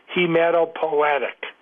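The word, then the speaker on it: hematopoietic: one uh writer asks how do you pronounce h e m a t o p o i e t i c that is hematopoetic right decided to do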